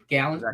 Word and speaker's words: Gallen: Gallen? Gallen.